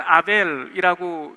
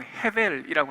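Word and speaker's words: הֶבֶל: 우리나라 말로는 아벨이라고 읽지만 원래 이 성경 언어로는 헤벨이라고 합니다.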